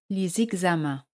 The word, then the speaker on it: les examens: Para los exámenes, pour les examens. Se hace siempre la liaison entre les y los sustantivos que empiezan por una vocal o H muda. Les examens. Pour les examens.